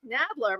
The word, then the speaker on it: Nadler: That was good, except my name is pronounced Nadler. But other than that, that was great. Rhymes with mad, bad, and dangerous to know.